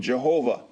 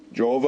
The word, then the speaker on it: Jehovah: pronunciation Jehovah and Yahweh by combining the vowel sign of Adonai and Elohim with the four consonants of the tetragramaton the pronunciation yoah you